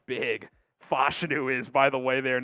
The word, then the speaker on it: Fashanu: out of Penn State it is fashu because uh you know we've been saying fashanu a lot but uh that has been uh confirmed in terms of the pronunciation I remember early on